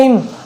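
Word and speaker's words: hymn: Silent N, कब N silent होता है, ठीक है, एन के बाद एन हो, क्या हो, एम के बाद में अगर एन हो तो वहाँ पर एन साइलेंट होता है।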